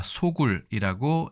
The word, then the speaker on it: 巢窟: 자, 이 글자 우리가 소굴이라고 읽습니다.